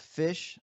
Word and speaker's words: Phish: Fish, obviously spelled PHISH, the legendary band.